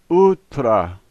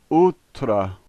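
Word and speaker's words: утро: last letter is an O and here it's pronounced in its typical way ah so this word is ultra ultra the first letter in this word reminds me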